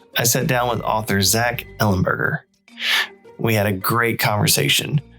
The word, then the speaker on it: Zach Ellenberger: So, today in the virtual studio, I'm joined by author Zack Ellenburgger.